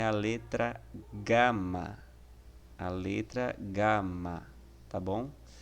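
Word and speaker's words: γάμμα: em gelo tá bom é o som de g gama tá bom então sempre que você vê a palavra a letra gama lembre-se que ela tem um som de g entretanto somente quando são dirigir é aquele como em galo tá bom então se lá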